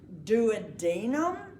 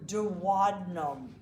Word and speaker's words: duodenum: Now, you may pronounce this most superior portion of the small intestines two different ways, and it is your choice. Duodenum or duodenum. Either is correct.